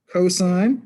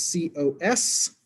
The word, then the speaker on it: cos: button that says s-i-n cosine says c-o-s and tangent is t-a-n it's still pronounced sine sine cosine tangent not sin cos tan sine cosine tangent uh